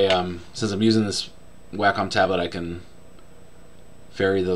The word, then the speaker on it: Wacom: eh c om and the American Way is way con but the company's Australian I think and it's actually a Wacom is how it's pronounced I'm thinking of in the past I've